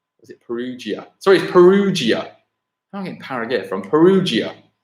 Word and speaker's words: Perugia: they set in is it Perugia so he's Perugia hung in paragate from Perugia they second I